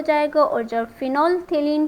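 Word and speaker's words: phenolphthalein: यहाँ पे PH जो है ये साइलेंट है, राइट। तो इसका करेक्ट जो प्रोनाउंसिएशन है वो है फिनोल्फथेलीन, ध्यान में रखिएगा।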